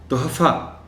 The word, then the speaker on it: تحفہ: کر چکا ہوں کہ جو کمی اس کے تلفظ میں عام طور پر دیکھی جاتی ہے وہ یہ ہے کہ لوگ اس لفظ کو بولتے ہوئے ہے کو ظاہر نہیں کر پاتے. ایسا لگتا ہے کہ وہ جو تلفظ بولتے ہیں اس لفظ کا اس میں ہے ہی نہیں.